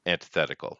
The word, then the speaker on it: antithetical: Antithetical. A lot of people mispronounce Oh.